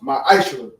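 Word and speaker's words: מעשר: Means tenth in the Hebrew, and it's pronounced ma'ashra.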